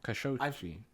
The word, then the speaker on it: Khashoggi: Khashoggi. I didn't know how to pronounce it. I think I've heard it on podcasts before, and that's what they say, Khashoggi.